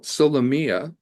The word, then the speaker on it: Solomea: most applicable to young people today okay well solia uh is is the way you pronounce it um by the way I just